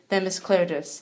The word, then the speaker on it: Themis Klarides: Right here I have representative from the 114th District and House Minority Leader, Themis Klarides. Themis, how are you? Good, and you pronounced my name properly, so you're way ahead of the game from all the other leaders in Connecticut.